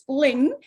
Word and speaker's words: Linh Phung: my name is uh lingful actually in the us i go by since it's easier to say and to hear but actually my name is pronounced as fling in vietnamese and so i'm from